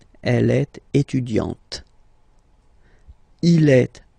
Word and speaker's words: étudiante: Okay, you don't really insist on the e, but you insist quite much on the t. Elle est étudiante.